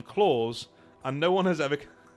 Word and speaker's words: Claus: goes by the name Claus, and no one has ever and no one has ever corrected her. Right. So, I've been saying it wrong. His name is Claus, as in Santa Claus.